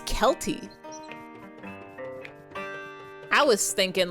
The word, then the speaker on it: Celty: It's pronounced like, oh, it's Kelty.